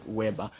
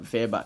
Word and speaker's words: Weber: pronounce it what w like we we call pronounce as what Weber it is what verber so M verber German sociology develop the principle